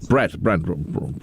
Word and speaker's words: Brent: Well, there's a nice thing about Brett. He was the guy for a while. Brent. Brett. Rhymes with rent.